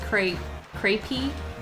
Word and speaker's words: crepe: And Controllius says, crepe is pronounced crepey, a pa sound on the end after crepe.